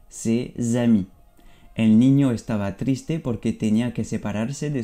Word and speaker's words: triste: Aquí es como triste, pero aquí te paras, no pronuncia la E como en español, va a ser triste, triste.